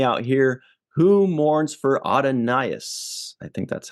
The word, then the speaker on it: Adonais: Who mourns for Adonias? I think that's how you say it. Adonais? That's the way I've always said it, and God knows if I don't know, nobody does. Adonais.